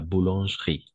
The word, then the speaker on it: boulangerie: La boulangerie. On va prononcer boulangerie. D'accord? Comme, par exemple, la crêperie, n'est-ce pas? La crêperie, la boucherie, d'accord? La boucherie, la boulangerie, autre chose, la crèmerie, d'accord? La bijouterie, toujours avec I, d'accord? Et le E est muet, d'accord?